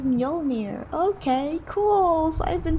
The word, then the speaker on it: Mjolnir: And then I learned that you don't really say the J. And I'm like, it's like Mjolnir. Okay, cool. So I've been saying it wrong this whole time. Mjolnir.